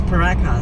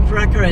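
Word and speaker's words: Pooraka: We said peruka and we so struggled with but it's spelled double O but it's paraka so you know again it's it's not English.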